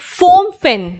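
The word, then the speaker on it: Phnom Penh: का capital is अ फम अ फम फेन right ऐसे करके इसका कैपिटल है अजीब सा ना नाम है पीए साइलेंट ठीक है व्हाट इज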